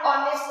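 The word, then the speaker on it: honest: यहाँ पे जो एच होता है वो साइलेंट हो जाता है, और इसको जब हम वर्ड्स को बोलते हैं, प्रोनाउंसिएट करते हैं, तो वो मेरा ऑनेस्ट आता है। इसकी साउंड और से निकलती है, ऑनेस्ट हो जाएगा, तो इसलिए यहाँ पर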